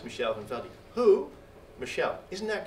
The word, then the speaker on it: Michel Van Veld: I've been pronouncing your name incorrectly. So it's Michel Van Veld.